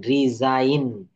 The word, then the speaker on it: resign: RESIGN, রিজাইন।